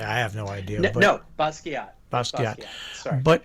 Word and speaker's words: Basquiat: no, Basquiat.